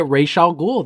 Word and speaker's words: Ra's al Ghul: That's you say it, Ra's al Ghul. That's how you pronounce it.